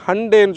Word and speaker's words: Hyundai: இப்போ ஹிண்டே பார்த்திங்கன்னா நம்ம ஹிண்டே வந்து அவங்க ப்ரொனவுன்ஸ் பண்ணுறத ஸ்டைலை மாற்றிருக்காங்க. நிறைய பேர் நீங்கள் அது அவங்களுடைய ப்ரெஸ் ரிலீசஸில் ஆகலாம், இல்லை அவங்க பேசுகிறத கேள்விப்பட்டிருப்பீங்க. சண்டே மாதிரி ஹண்டேன்னு சொல்லணும்னு சொல்லியிருக்காங்க. நமக்கு அப்படி சொல்ல வர மாட்டேங்க, நம்ம ஹிண்டேனே சொல்லலாம்.